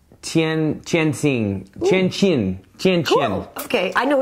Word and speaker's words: Tianjin: The next day we went to a town called, let me see if I can get this right, Tianjin. Cool. Okay, I know it's hard to pronounce.